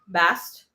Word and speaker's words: Bast: I want to talk a bit about goddess Bast, rhymes with mast.